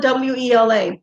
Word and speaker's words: Wela: But when you're little kids, you don't say abuela, you say abuela. So we spell it W-E-L-A.